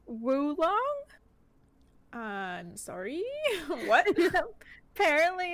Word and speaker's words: oolong: Did you know that oolong is actually pronounced woolong?